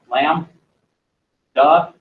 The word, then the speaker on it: lambda: okay the Greek letter Lambda so spelled like that lamb duh how am I doing today